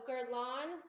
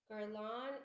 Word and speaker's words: Guerlain: what are we thinking guerlain no garland let me spell it for you steve garlon is boom g-u-e it's like berlin that's what it is